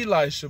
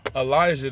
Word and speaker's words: Elijah: with a all this time i've been saying elisha but it's pronounced elijah the e is silent i learned this because